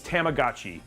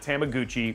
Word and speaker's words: Tamagotchi: Like, and sorry, I mispronounced it. It's Tamagotchi. Sorry. Tamagotchi. So, not Tamaguchi, which I love Tamaguchi.